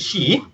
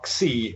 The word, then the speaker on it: Xi: Xi, which of course is X-I in the spelling. And don't try to say Xi or X-I as some Westerners have made it.